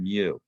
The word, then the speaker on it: mu: of of this uh letter and that's called mu all right m u that's how you pronounce it and um and it's the it's